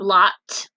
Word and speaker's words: locked: The word locked ends in ED. And what sound does that ED make? Did you say t? Good job, locked does make the T sound.